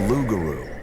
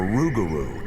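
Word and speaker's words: Rougarou: The lugaroo or rugaroo as the local cinjun pronounce it is not a peaceful beast like Bigfoot.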